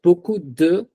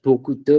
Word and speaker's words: beaucoup de: So I will use beaucoup de. I won't say this as beaucoup de because French don't say it. They club this word and say it beaucoup de.